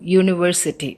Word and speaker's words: university: The sound is uni, y-u, university. So that's why a university. That means when we pronounce university, that is not the sound of any vowel.